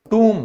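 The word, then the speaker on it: tomb: ये भी बिल्कुल गलत है, क्योंकि ये हमारा गलत है बिल्कुल। इसे बोला जाता है टूम।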